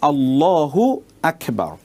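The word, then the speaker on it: الله أكبر: দেখুন মূল উচ্চারণটা হবে আল্লাহু আকবার আল্লাহু একটি শব্দ আকবার একটি শব্দ এখন আপনি আল্লাহু আকবার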